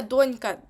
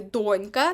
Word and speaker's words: донька: саме донька і дочка запам'ятайте донька наголос на першому складі але дочка наголос на останньому складі на другому і ось це ви дуже часто плутаєте запам'ятайте донька- долонька так донька долонька донька долонька на першому складі дочка ка просто дочка